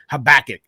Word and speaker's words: Habakkuk: you say it solid yeah sweet all right habakkuk I read habakkuk the day before and it's